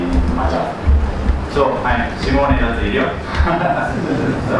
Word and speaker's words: Simone Dal Zilio: So I'm Simone Dal Zilio, the right pronunciation.